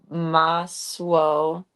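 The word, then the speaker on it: masło: Maswo. Oh, the S and the L with a line in it make a swo sound.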